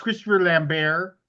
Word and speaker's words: Christopher Lambert: Here I am trying to figure out Christopher Lambert. Christopher Lambert. Jeez. Is that who played I Raiden? think it's pronounced Christopher Lambert.